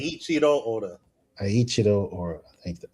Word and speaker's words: Eiichiro: And apparently, um, I don't want to say his name wrong. Ichiro Oda, right? Ichiro Oda, is that right? Eiichiro Oda.